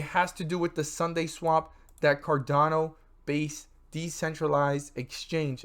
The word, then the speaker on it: SundaeSwap: Even though it's not spelled like today's a Sunday, it's spelled with the E, not the Y, and this is SundaeSwap.